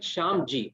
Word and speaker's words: Shamji: I said Shamji. I didn't say Shanti.